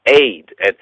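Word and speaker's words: עד: It comes down to the word aid, right? Aid, that's E-D. They pronounce it aid, A-Y-D, because of a pointing on the ayin, the Hebrew letter, but it's written in the English as E-D.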